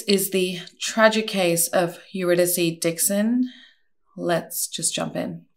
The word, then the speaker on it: Eurydice: Eurydice is how a lot of the media pronounces her name, but I believe she pronounced it Eurydice.